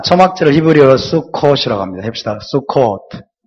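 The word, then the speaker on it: סוכות: 배우는 기쁨이 있습니다 자 초학자를 히브리어로 스코라 합니다시다 수코 수콧 예 수컷이라는 복수형 이고요 단수 형으로는 수카라 그래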